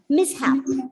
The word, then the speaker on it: mishap: yes two syllables so as per the rule where should the stress be placed for the nouns with two syllables on the first syllable first one exactly and you read the word as mishap okay it is mishap and you can can